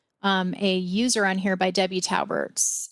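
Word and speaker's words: Taubert: you may have started telling us about that talbert t-a-u-b-e-r-t i live in the prairie heights subdivision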